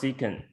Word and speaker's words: sec: speakers ec right secant sec is pronounced secant right right right up